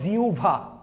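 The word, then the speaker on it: জিহ্বা: যায় গত ক্লাসে পড়েছিলাম যেমন লিখেছি জিহবা না ভাইয়া উচ্চারণ হবে জিউভা তাহলে আমি আপনাদেরকে আরেকটা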